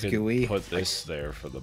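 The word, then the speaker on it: GUI: can get the box do you pronounce g-u-i as gooey put this there for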